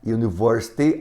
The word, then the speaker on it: university: University, som de U, som de Y.